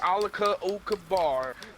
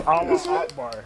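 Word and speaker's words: Allahu Akbar: It's Allah Akbar, alright? It's Allah Akbar, that's what I'm saying.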